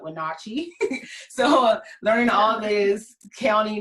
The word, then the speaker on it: Wenatchee: Most people come to Washington State and they call Wenatchee, not Wenatchee, but Wenatchee.